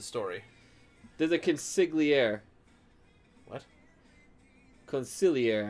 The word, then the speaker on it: consigliere: Consigliere, actually, I think is how it's technically pronounced.